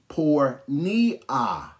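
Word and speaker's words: πορνεία: This word fornication, okay, is pronounced pornea. P-O-R-A, it's got a D, N-E-I-A, pornea.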